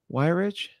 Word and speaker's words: Weyrich: Weyrich.